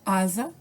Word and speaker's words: asa: dizer como no exemplo asa é escrito com s mas da sua pronúncia eu vou ter um som de z casado também casa também